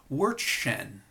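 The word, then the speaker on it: Verstehen: his perspective was captured by the concept called word Shen and it's spelled in your text v-e-r-t-s-h-e-n understanding so from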